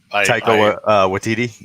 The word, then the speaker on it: Taika Waititi: I do not know how to pronounce his name. Taika Waititi.